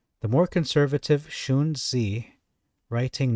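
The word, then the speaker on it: Xunzi: the more conservative uh how do you pronounce that shuni is that X pronounced as a sh I think it's a sh anyway the more conservative shun Z writing not much later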